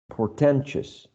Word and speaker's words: portentous: Next one, portentous, portentous. So this cluster of vowels, right? I, O, U, in all of these words is reduced to a schwa.